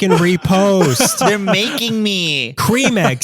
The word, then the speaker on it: Creme: the same yeah well cream and creme are the same in English no one in the UK calls it creme pronounce it as Cream Egg from now on it's